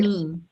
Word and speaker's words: Bonime: phoneme, rhymes with phoneme.